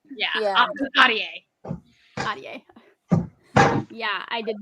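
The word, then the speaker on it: Ahdieh: The Dawn by Renee Adia. I hope I pronounced that right.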